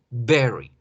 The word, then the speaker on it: berry: Se debe pronunciar de esa forma, berry. Mientras que el intensificador muy se debe pronunciar very, very, very. ¿Sí? ¿Por qué? Porque si ustedes dicen very con very con very, van a haber confusiones.